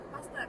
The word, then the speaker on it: Pasteur: katanya kan kalau misalkan kayak paster itu kan kan tulisannya Pasteur gitu kan itu emang katanya cara bacanya Huruf pertamanya aja gitu u-nya enggak usah gitu paster Iya kalau Ci c